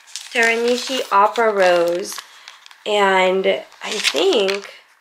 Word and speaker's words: Teranishi: last night and I have T was it Teran Nishi teranishi Opera Rose and I think it's good so